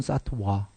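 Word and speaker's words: सत्त्व: 보리 사트바 깨달은 중생 사트바 중생이 사트바 또는 사트 와 와 발음 나는 건데데 보리 사트바 깨달은 중생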